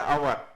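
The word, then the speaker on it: hour: I spend N ववर अब ववर में एच जो है वह साइलेंट रहता है कुछ वर्ड्स रहते हैं अवर हो गया ऑनेस्ट हो गया य ऐसे कुछ वर्ड्स होते हैं जिसमें एच साइलेंट होता है तो साइलेंट होने की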